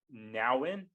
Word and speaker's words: Nouwen: It was by Henry Nouwen. Is that how it's pronounced? Correct. Nouwen.